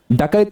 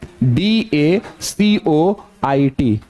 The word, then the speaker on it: dacoit: डकैत का इंग्लिश, डकैत, डकैत, रॉबर। रॉबर का मतलब डाकू होता है, तो डकैत कैसे हो जाएगा? डकैत का डकैत होता है, और उसका स्पेलिंग होता है DACOIT।